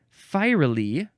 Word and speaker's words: fiery: f i e and fiery is f i e r y we switched the E and the r for some reason I